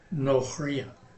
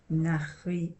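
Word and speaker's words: נכריה: Okay, here, this first syllable of this last word here, we have a comments in a closed unaccented syllable. So it's going to be O. Nochria. Nochria. Nochria. Yeah. The comments in a closed unaccented syllable goes O.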